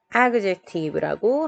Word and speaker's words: adjective: 악센트 강세, stress가 앞부분에 있습니다. adjective라고 합니다.